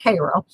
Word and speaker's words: Cairo: It's not pronounced Cairo, it's pronounced Cairo, called Elevate.